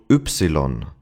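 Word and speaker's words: Ypsilon: This letter is interesting because first of all, it's called oopsilon.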